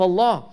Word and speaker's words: Allah: of Allah is that it is extremely easy to pronounce. There are no hard consonants. It's just an expulsion of air along with a movement of the tongue. Allah. That's it. There's no hard consonants. There's a minimal movement. The lips do not move at all.